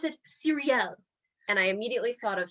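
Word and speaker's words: Cyrielle: spelled there as c-y-r-i-e-l-l-e cheyenne wanted to pronounce it cyril because there's a c y and i wanted to pronounce it cereal and i immediately thought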